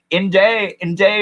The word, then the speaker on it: Nde: the country around us in day is the word the native word for the Apache it's spelled nde just like that with an accent over